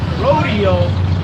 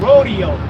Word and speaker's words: Rodeo: look how they named the street rodeo in the hood. It's called rodeo. But in their neighborhood, spelled the same way, it's rodeo.